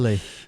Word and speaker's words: Maule: Maule. Yeah. Maule. Maule Valley. I would have laughed if he would have pronounced it.